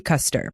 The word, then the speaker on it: Custer: Stacy Custer, pronounced like General Custer, but no relation, or custard without the D in pronunciation language.